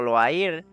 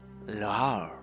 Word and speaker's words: Loire: Yo dije Loire o Loair. Loire me parece que dije y es Loire, Loire, Loire. Son, ¿cómo se llama? Ciudades francesas, entonces se pronuncian raro.